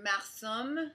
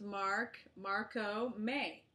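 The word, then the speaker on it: Marcomé: Marco May or Marsom. No, it's actually pronounced Marco May. Marco May.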